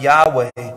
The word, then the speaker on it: Yahweh: el shaddai and then in hebrew it's spelled y h w h pronounced yahweh before this moment in